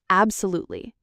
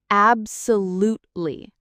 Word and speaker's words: absolutely: Let's start with absolutely. This one can be a little tricky because it's long. Listen carefully. Absolutely. Did you hear the lute sound in the middle? Not lie, but ly at the end.